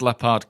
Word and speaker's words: L'Appart: It's pronounced La Part, guys. Get it right.